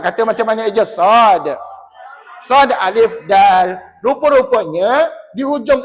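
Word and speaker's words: صاد: sad tadi Ustaz kata macam mana Eja sad sad Alif Dal rupa-rupanya di hujung ejaan sad itu ada Dal Dal itu bertanda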